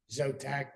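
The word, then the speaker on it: Szotak: Zotak with an S. S is silent.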